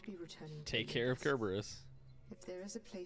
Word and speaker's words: Kerberos: up no it's supposed to be kerberos kerberos yeah because in greek and whatever the c letter is pronounced with a k that's why it's not